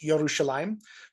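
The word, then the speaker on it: ירושלים: The bet means in, and Jerusalem on its own would be pronounced Yerushalayim. But when you put this preposition on the front here with a word that begins at a yod, it kind of all slides together, and this becomes Birushalayim.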